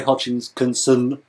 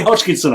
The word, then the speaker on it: Hodgkinson: to people like Gary Hodgkin's concern and Chris Dale I'm sure he'll be really Charmed that you've got his name wrong Gary hodgkinson I said and Chris Dale look